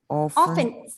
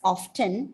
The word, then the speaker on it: often: in the class, like if you want to pronounce the word as often, you can because it's not wrong. So either often or often, both are correct. But normally we go for a silent T.